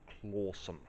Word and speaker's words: Clawson: the church well the village clsome but it then becomes um clawsome um over time because basically it's how the locals say it and then spelling is conformed to pronunciation.